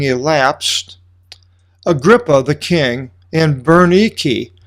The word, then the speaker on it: Bernice: And some days having elapsed, Agrippa the king and Bernice, that's how you pronounce it in the Greek, Bernice, arrived at Caesarea.